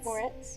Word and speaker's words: Moretz: movie okay chloe grace mortez morette moretz how do you say her last name more uh moretz yeah that's what i thought is it um dark